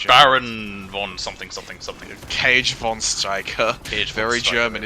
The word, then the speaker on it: Krieg: was like a cat I thought it was with the G like almost like a like kids engage from Striker or something oh it's cage yeah I know the